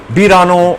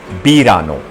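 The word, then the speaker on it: verano: Birano. Actually spelling is V E R A N O. In Spanish V is pronounced as B. So we say Bano.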